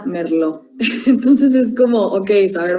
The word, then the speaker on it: Merlot: Entonces, hay más o menos, o por ejemplo, la uva Merlot, o sea, se escribe Merlot, pero se pronuncia Merlot.